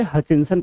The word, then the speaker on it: Hutchinson: Okay, ट को नहीं प्रोनाउंस करेंगे, हचिंसन प्रोनाउंस करेंगे।